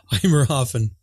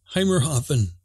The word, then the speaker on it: Heimathafen: Select, oh, how do you pronounce that? Heimathafen. Heimathafen. There's an R? It's German.